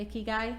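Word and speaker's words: ikigai: iy guy yes and that's how you say it icky guy it's iy guy is a Japanese concept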